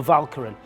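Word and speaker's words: Walcheren: of the Shelt EST is the aisle of valkin it starts with v uh W but it's pronounced V V for valkin the Germans have put a 100,000 soldiers on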